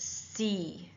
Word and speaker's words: Z: English or British English, it's pronounced said. In American English, it's pronounced C. It's said in Canada, though you'll still hear because we're so close to the American border, a lot of people saying C, but it is actually said according to uh the British English.